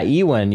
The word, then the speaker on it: Ewan: Ewan, bro.